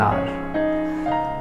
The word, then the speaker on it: hour: and half an r h is silent here it should not pronounce as however it is wrong you need to pronounce as half an hour take the same example